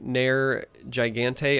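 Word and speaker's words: Nergigante: color so I'm playing NER Gigante I believe is how it's pronounced I always slaughter this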